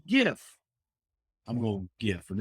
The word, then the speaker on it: gif: my favorites um okay some people say it's jif like the peanut butter but it's a g it's a hard g so it's not it's it should be gif i'm going to gif